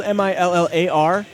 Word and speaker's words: Millar: got one of each he says it's both it's spelled mi ll AR which I believe it probably is Millar put so many people say Miller that he's just like you know what guys it's both but we do have